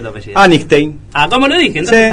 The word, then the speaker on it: Anigstein: ¿Cómo se pronuncia tu apellido? Antein.